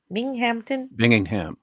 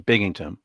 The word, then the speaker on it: Binghamton: Bingingham. Or Binghamton, excuse me, Binghamton. That's how you pronounce it.